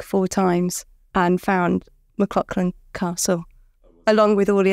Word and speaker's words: McLauchlan: to say it how do you say it McLaughlin there we go piano yeah there you go